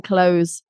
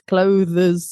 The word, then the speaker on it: clothes: I always say to people just do it like close the door cuz it's not that far away from clothes, you know, clothes. Got a slight the but it's just like close the door cuz then you get the S right cuz they always get the S wrong and it's clotheses and Yeah, the something when